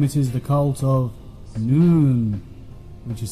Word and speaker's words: Nun: cult this time it is the cult of noon which is spelt none but you call it knowledge and